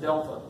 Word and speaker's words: Delphia: But they pronounce it Delpha. Is how they pronounce it, but it's spelled like Delphia.